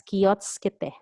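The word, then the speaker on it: 気をつけて: But it's pronounced natively as kiyotsukete.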